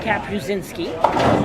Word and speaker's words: Kapuscinski: Think cap a shin. Ski. So try to remember, baseball, the first vowel, a body part, and a sport.